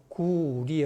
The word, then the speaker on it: 句麗: 그때 그 사람들은 구레라고 읽었어요. 그때 당나라 말로. 구리가 아니에요, 당나라 때는. 지금 북경어가 리입니다. 그러나 6세기 음을 보면 레로 나왔어요. 그러니까 레로 읽지 말고 리로 읽어라 라고 줄을 단 것입니다.